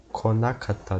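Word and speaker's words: こなかった: Tanaka-san wa konakatta desu. Lembrando que isso daqui se pronuncia ko. Não ku.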